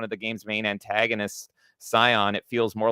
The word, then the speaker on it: Scion: Oh, does he call it Sion or Scion. something? Scion. Oh, okay. Yeah, no, this game is full of characters that you can pronounce differently.